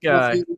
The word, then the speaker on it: Guy: Do we pronounce it Guy? Yep, it's All right. pronounced Guy.